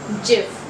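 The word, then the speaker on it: GIF: word this is very very mispronounced it is jif the correct pronunciation for this word is jib so these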